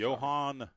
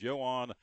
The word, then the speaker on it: Yoan: talking about this for the show I'm Johan Yan I should say y o a an but it's pronounced Yan Red Sox signing looks like you may